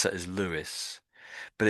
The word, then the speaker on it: Lewis: So L E W I S. So we pronounce that as Lewis, but it's sort of similar to that name.